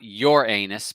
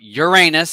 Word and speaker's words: Uranus: everybody talking about and I saw Uranus well I saw your anus and I said not your anus but Uranus add-on and I said wait